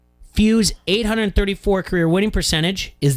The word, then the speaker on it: Few: Rhymes with who? Few.